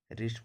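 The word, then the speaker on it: wrist: उसी तरह यहाँ पढ़ेंगे आर आई एस टी, रिस्ट पढ़ेंगे, डब्लू को नहीं पढ़ना।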